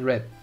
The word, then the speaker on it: read: One is pronounced normally, the other is pronounced red. So it's read and red. But it's the same word.